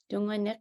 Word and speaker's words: Tungunak: Tungunak is our correct way to say our last name.